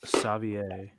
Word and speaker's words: Savior: It's pronounced Savier.